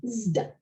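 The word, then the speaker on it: ζ: In the classical Attic, that's pronounced as in English wisdom, zd.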